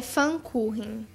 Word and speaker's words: Pfannkuchen: É Pfannkuchen. Pfannkuchen. Se escreve Pfannkuchen.